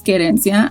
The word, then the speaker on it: Querencia: an intro right and she pronounces gerensia as it's supposed to be pronounced like li was talking about like that this girl worked on her on her on her pronunciation and that's very appreciated